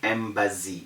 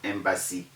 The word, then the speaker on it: embassy: instead of montezori and people say embazzy instead of embassy people say ambassador instead